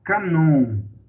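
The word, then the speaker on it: κανών: No grego, cânon é a palavra canon. Tá? O cânon, na verdade, é a palavra canon no grego. A pronúncia no grego é canon, que significa vara, que significa uma régua de medir.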